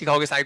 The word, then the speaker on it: psi: लिखो साई, PSI, pronounce कैसे करते हैं, साई, PSI।